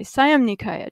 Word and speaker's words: Siam Nikaya: the traditions of the Siam Nikaya. There were also four bhikkhus there, which is a bhikkhu sangha, from the Thai Siam Nikaya, it's pronounced in Thai, Siam Nikaya tradition, or Siam Upali Vangsa.